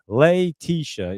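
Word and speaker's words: Letitia: Leisha. Yeah. See, I can't pronounce it when you break it down for me.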